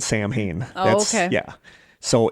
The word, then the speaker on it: Samhain: generally hear it, it's Samhain. And that it is not pronounced how it is spelled. It is pronounced Samhain.